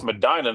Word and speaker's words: Madina: But, uh, I think it's pronounced it's Madina, not Medina, is in it.